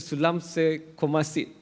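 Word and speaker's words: Saleumxay Kommasith: Sulamse Komasit. Did I pronounce that right?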